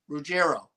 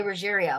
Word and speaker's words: Ruggiero: Like people pronounce my last name Ruggerio. A lot of people want to say Ruggerio. And there's even members of my family that pronounce it that way. And my name is spelled Ruggiero. It's Ruggerio. I always say Ruggerio.